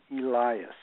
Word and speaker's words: Elias: The way you pronounce my last name is Elias.